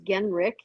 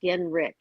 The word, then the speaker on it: Genrich: It's Genrich. It's pronounced like it's an R I C K. It's spelled with an H, but it is pronounced Genrich.